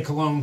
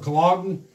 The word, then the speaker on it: Cologne: The Fifth Crusade, 1212 A.D., it's led by Nicholas, I want to say Cologne because it's spelled about the same, but Nicholas of Cologne, which is C-O-L-O-G-N-E, Germany.